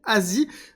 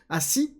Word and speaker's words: ASI: seul projet qui s'appelle ASI Asie ass Asie comme vous voulez le prononcer dans lequel on aura